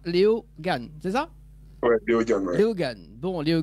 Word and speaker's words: Léo Gane: Donc, ça se prononce comme ça, Léo Gann, c'est ça? Ouais, Léo Gann.